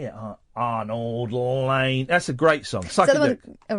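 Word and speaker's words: Arnold Layne: Is that how it's pronounced? Yeah, Arnold Lane.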